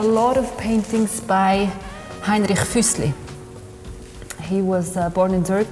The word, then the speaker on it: Füssli: They didn't know how to pronounce his name, they call him Henry Fuseli there, they really do.